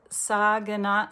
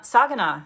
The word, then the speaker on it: Saginaw: Saginaw, Saginaw, Saginaw, Michigan.